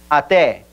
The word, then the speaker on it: até: logu muy bien en en la palabra hasta en portugués recuerden esa e es abierta porque está acentuado entonces sería at repita até una vez más até